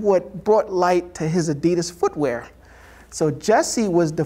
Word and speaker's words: Adidas: guy's name was adi his first name was addy and his last name was dassler so it was adi das and he visited the